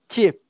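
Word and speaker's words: cheap: Chip, isso aí. A pronúncia é como se fosse chip de batata, sabe? Chip, com escritas diferentes, mas chip.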